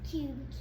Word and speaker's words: cube: C U B E. Okay. What syllable type is this? Um vowel consonant E. Okay. And how do we code it? Okay. Prepare. Ready. Read. Cube.